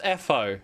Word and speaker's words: Etho: It's pronounced Etho.